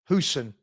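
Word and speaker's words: Huijsen: can anyone tell me, how do you pronounce his name? Is it Houston? Hoyson? Hoyson? Houston? Heason? Huison? Anyone? Huson.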